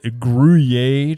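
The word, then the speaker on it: Gruyère: even know what that means but and melted guier cheese that's exactly how you say it that's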